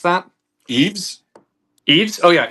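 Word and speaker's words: Yves: Um, is it Yave St. Laurent? How do you How do you pronounce that? Eaves. Eves. Oh, yeah. Eves.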